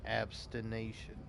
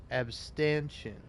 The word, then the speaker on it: abstention: A person who practices severe self-discipline and abstination. Ascetic. And abstention. It's abstention. Abstention.